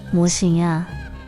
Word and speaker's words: 魔神仔: "Cậu bé ma" (魔神仔), phát âm là "mô-sîn-á" trong tiếng Đài Loan, không phải là ma